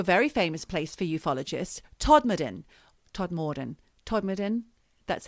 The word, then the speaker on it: Todmorden: So now we go to a very famous place for ufologists, Todmorden, that's how they say it in West Yorkshire, is known as UFO Alley.